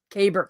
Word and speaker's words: caber: he has nothing to caper toss no he's not going to tape or toss caber caber see i'm not even pronouncing it correctly see norman fixed me